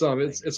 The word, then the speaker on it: Eiger: How do you it's spell that? the Eiger. Oh, okay. Like how it's okay. It's Iger like a section.